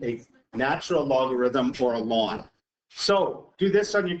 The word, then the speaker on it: ln: L N X and L N is pronounced lawn.